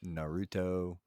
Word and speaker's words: Naruto: And number one, why you're still calling it Naruto, I have no idea, but yeah. Naruto, that's how you go back and pronounce it.